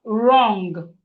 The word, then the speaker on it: wrong: We have wrong. Wrong. Wrong. You are wrong. I disagree with your answer. Your answer is wrong. The W in wrong is silent. The W is silent.